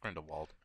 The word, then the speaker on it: Grindelwald: Grindelwald. Is that how you say it? Yeah, Grindelwald.